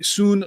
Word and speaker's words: Tsuen: next race is the soon lok hopefully they pronounced everything i got the first part right because i remember you don't pronounce t but and i always wondered